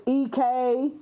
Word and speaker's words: Ekane: Okay, so it's Ekane. Okay, Ekane. Okay, E Kane, like Kane with a K instead of a C.